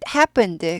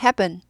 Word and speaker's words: happen: 될 수 있어요네 it happened 그것은 발생했습니다 happen 일어나다 발생하다 어떤 일이 생기다라는 뜻이에요 해 하지 마시고 해 하세요 쁜 예쁜이 할 때 쁜 자처럼 예 경험하 돼요 프 발음에서 브 발음으로 예 그게 더 고급